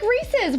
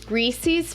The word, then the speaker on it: Reese's: Or Reese's. Pieces. Yeah. Reese's Pieces. Reese's Pumpkins. Thank you. You were about to say Reese's Pieces. Reese's Pieces. Reese's Pieces. Reese's Pieces. Just remember, if it rhymes with feces, it's not how you not.